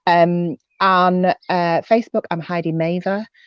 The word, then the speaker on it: Mavir: the autistic experience um on facebook i'm heidi maever spelt like mavia but pronounced like had he made a sexual favor